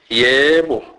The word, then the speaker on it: yebo: E is pronounced as a, as in a word wet. Examples: geza, geza, which means wash. Sebenza, sebenza, which means work. Yebo, yebo, which means yes.